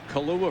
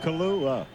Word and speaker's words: Kalu: Kalu, a free agent out of Rice. I just love to say that name. You're the only one up here that pronounce it. Kalua. No, not Kalua. You're close, though.